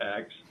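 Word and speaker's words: Ecks: up with what name Joe X and it's spelled e c KS so it's Joe X and um and he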